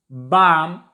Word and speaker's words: balm: L is silent before M. Calm, palm, balm, and many more words.